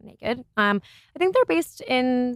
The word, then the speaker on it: NA-KD: It's NA-KD, so naked.